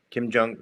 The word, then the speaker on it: Kim Jong: Kim Kim Kim Kim Jong rhymes with dong. Kim Jong.